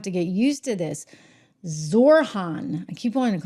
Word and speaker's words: Zohran: Oh gosh, we're spelling his name wrong. You know, I'm gonna have to get used to this. Zorhan. I keep wanting to call him Zofron for some reason.